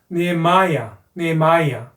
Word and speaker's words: Nehemiah: 자, 느헤미야는 Nehemiah 뒤에 액센트가 있고 I가 I 발음 나서 Nehemiah, Esther.